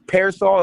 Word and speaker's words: PRSL: It's it's Parasol is what the name of it is, but the way it's spelled is P RSL.